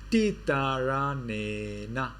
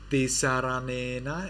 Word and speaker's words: Tisaranena: So this is not tisa, it is tita. Tita. Titaranena. Tisaranena is a Sinhala, Sri Lanka pronunciation. In Burmese it is Titaranena.